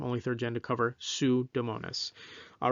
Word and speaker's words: Pseudomonas: third gen to cover sue domonis i know that's not how it's spelled but that's how it's pronounced that helps you remember